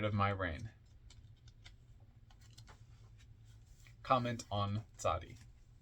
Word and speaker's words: Tzaddi: my reign comment on sadii t z a d d i pronounced zadi transcribed as Tey the